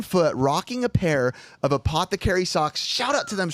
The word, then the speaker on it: Apothecary: wonderful company uh Apothecary Apothecary is pronounced by the way Apothecary and it is your